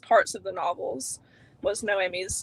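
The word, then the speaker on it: Noemí: How do we feel about Naomi? Say it properly. Noemi.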